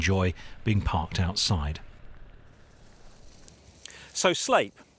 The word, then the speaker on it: Sleap: your pride and joy being parked outside so sleep spelled sleep but I can assure you it's pronounced sleep it's a former RAF base that opened in